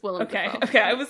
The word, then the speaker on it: Willem Dafoe: say his name what William defo is it William or is it Willam oh it's will it's will def okay I was like